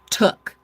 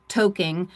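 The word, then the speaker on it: toque: Took Oh, I've heard that. So, what I thought was like toking. Um, no, it's pronounced took.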